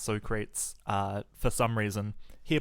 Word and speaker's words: Socrates: fatality versus Socrates and yes his name is pronounced Socrates uh for some reason here playing under the